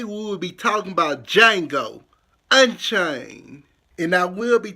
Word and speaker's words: Django: a union G Oh the D is silent so with that being said today we will be talking about Django Unchained and I will